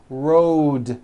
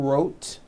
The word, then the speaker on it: road: with a voiced D Road also has a voiced D ending road it's not wrote unvoiced it's Road the whole word is voiced let's go over these